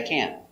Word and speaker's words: can: Pronunciation C a sound before the N changes a little. Not can, but can. Can can. It's a little more closed and it's a little more nasal in your nose.